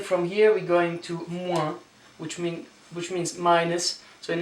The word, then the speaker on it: moins: You don't pronounce the last letters, as you know already. C'est Thomas rule, as I call it. 7h moins 20.